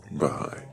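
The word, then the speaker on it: Baháʼí: the right way to say that actually bahigh okay bahigh you could preserve one or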